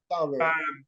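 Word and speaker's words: Salaverry: Ivan Salveri, how do you pronounce his name, Miguel? Salveri.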